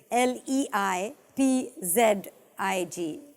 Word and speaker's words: Leipzig: I'm afraid that's incorrect the accurate spelling is le i p z IG leipzig that's how it's pronounced that's how it's spelt I'm afraid that